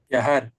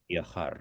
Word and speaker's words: viajar: say viajar. Viajar. Horacio. I'm native, so viajar. In Spain, they will pronounce hard, more strong. But in Latin American, we say viajar is softer. Softer.